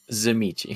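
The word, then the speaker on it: Tzimisce: Zamichi. Zamichi. And it's spelled like Zamichi. Tizimisk, so it doesn't help.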